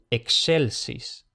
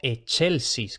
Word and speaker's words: excelsis: Entonces, por ejemplo, excelsis. Excelsis. Y como digo aquí, cuidado, no che, no excelsis, que eso se oye mucho. No, no excelsis, sino excelsis.